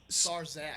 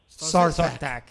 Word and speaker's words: Sarthak: Sarzak. SARS Zach? Star Fox? Yeah. SARS Zach? Yeah. Like the, Spell it out. Like What, the like disease? the disease? SARS? No. It's S-A-R-T like Thomas, H-A-K. Sarthak.